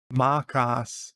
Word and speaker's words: Macas: And to improve your Aussie foo, Macas is the pronunciation.